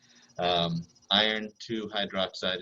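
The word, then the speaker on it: iron(II) hydroxide: Iron 2 hydroxide is how you say it out loud, but the way you write it is iron, open parentheses, II, close parentheses, and then hydroxide.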